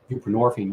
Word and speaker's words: buprenorphine: It has roots, in the 70s and whatnot, and just replace your narcotic with something else, whether it's Suboxone, which is buprenorphine, rhymes with morphine, or methadone, ditto, and